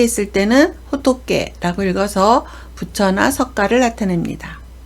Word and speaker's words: 仏: 한 개 있을 때는 호토케라고 읽어서 부처나 석가를 나타냅니다.